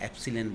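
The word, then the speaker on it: epsilon: समानुपाती की चिन्ह की जगह अपन ने स्थिरांक लगाया जिसको का प्रोनाउंसिएशन अपन कह रहे हैं एप्सिलॉन, इसको अपन बोलते हैं।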